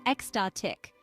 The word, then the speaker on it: ecstatic: experience something truly extraordinary the pronunciation is exatic with the stress on the second syllable so the next time